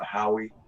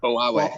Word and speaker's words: Huawei: It's just a Howie. How's how you say it? Huawei.